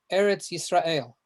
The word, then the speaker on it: Eretz Israel: answered so also just let me know the pronunciation since this is hebrew is eretz israel eretz israel yes you are an eretz israel